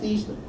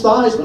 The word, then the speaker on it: Theismann: me in the office he said Joe have you pronounce your last name I said it's Eastman he said no it's not it's Theismann I said no it's not it's thieves but he said no